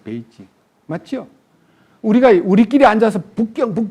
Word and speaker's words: 베이징: 우리가 이제 사실은 우리 옛날에 북경을 우리는 우리말로 북자에다가 북쪽의 북자에다가 서울경자 북경 그랬는데 실제 거기 이름은 베이징이잖아요. 베이징.